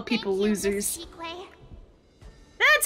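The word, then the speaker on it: Qingque: Chique.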